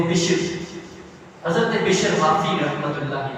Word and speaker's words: بشر: حافی رحمۃ اللہ تعالی، اصل ان کا تلفظ بشر حافی ہے، اکثر لوگ بشر حافی کہتے ہیں، لیکن اصل جو اس کا تلفظ ہے اس لفظ کا وہ ہے بشر، حضرت بشر حافی رحمۃ